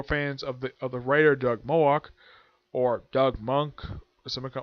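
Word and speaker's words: Moench: Some people might pronounce him as Doug Monk or Malik, but it's Moak.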